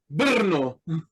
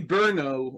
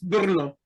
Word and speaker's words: Brno: You would say Brno or something like that. You would add a a vowel between the B and the R.